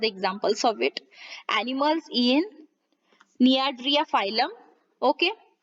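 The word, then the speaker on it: Cnidaria: सेलेंटरेटा या फिर नियाड्रिया, इसमें सी साइलेंट हो जाता है, ध्यान में रखिएगा।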